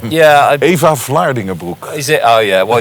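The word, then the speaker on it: Vlaardingerbroek: Eva Vlandingenbroek in Holland has blocked me long ago. I love how you pronounce her last name. Yeah, Eva Vlandingenbroek.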